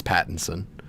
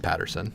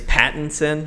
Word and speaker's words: Pattinson: pronouncing his name wrong its Pattinson not Patterson I will never stop okay it's Pattinson like I just I on the sin a patent like patent pending patent son Patrick son is